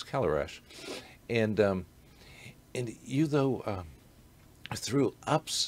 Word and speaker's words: Călărași: Which for our listeners, if they read it, it would look at Călărași, is the way we would pronounce it, but it's Călărași.